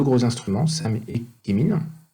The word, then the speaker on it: CheMin: gros instruments, SAM et Chemin. C'est écrit chemin, mais se prononce Chemin, parce que ça veut dire Chemistry and Mineralogy, en anglais, qui s'occupent d'analyser la minéralogie